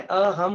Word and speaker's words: अहम: तो अहम जो होता है, अहम का जो प्रोनाउंसिएशन होता है अहम कहते हैं हम लोग, म से उसका एंडिंग करते हैं।